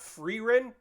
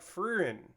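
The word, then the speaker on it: Frieren: I say it right because it's f r i e r e n so it's like it's not free Wren it's like freerin uh or Friar and I just haven't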